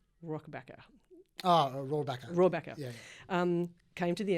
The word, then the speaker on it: Rohrabacher: Rohrabacher.